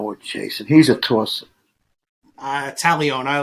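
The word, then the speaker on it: Taillon: You know why I like Talion? One of my favorite movies as a kid. I love Steve McQueen. Was Papillon. Talion. I don't know what Jason. He's a tosser. Talion.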